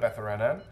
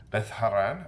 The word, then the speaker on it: Beth Haran: nothing going on at bethan Beth haran I should say that's the correct pronunciation I believe can you please this